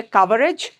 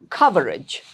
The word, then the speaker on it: coverage: Don't say coverage, it's coverage. Our network coverage is extensive.